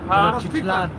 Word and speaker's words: Tenochtitlan: Tenochtitlan.